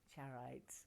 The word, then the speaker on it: charoite: Charoite, I keep being told to say it properly.